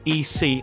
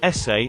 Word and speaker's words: ese: She quickly interjected, "Oh, I think you pronounce it EC, I think they just made it up, like their own nickname. I am Mexican. It's pronounced like essay and it's equal to bro or man."